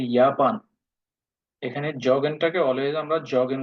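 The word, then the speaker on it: Japan: যেমন জাপান, জাপান যদি বলি তখন হবে ইয়াপান।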